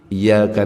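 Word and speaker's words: إياك: Kita ganti enggak pakai tasdid. Iyyaka na'budu wa iyyaka nasta'in.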